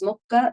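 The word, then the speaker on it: smock: Okay, so first off, I am already wearing my linen smok. This is a 15th century style smok is smok as it's pronounced in 15th century English.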